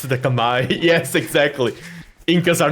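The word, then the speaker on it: Khmer: with Age of Vampires we all say kamur but actually it's pronounced kamay Kamai yeah yeah yeah it's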